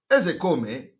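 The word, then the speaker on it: Ozekhome: When I want to pronounce, I pronounce it the way Igbo people are pronouncing it.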